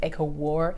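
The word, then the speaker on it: ACOWAR: I say obviously cuz it's a court of wings and ruin but it is pronounced like echo war.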